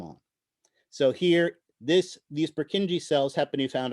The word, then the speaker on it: Purkinje: do they call them no one wants to pronounce that name purkinje they're purkinji cells any idea why they're called purkinje cells